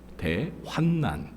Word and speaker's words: 대환난: 다섯 번째 징조는 무엇입니까대 발음을 잘해야 되죠 환난네 환란이 아니라 대환난 그죠 자 오늘은 이제 이런